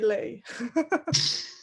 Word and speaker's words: Lee: see, just exactly like it's spelled, L-E-E. Yeah. And Yeah, it's just- Lee. Yes. Mm. But Dutch people call me Lay.